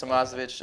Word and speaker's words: Thomasovich: It's just Tomasov. It's pretty like Ovich, like just how it looks, just Thomas and then Ovich.